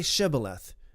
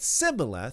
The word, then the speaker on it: Shibboleth: If he said no, then you should say to him, "Now say Shibboleth." And if he said Sibboleth, for he could not pronounce it right, then they took him and slew him in the passages of Jordan.